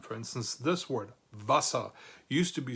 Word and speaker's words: Wasser: And it's still pronounced Wasser. So the Z in medieval manuscripts may represent an S sound.